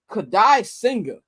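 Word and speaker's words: Kodai Senga: And the Mets going to be throwing Kadai Singer. That's how you pronounce his name.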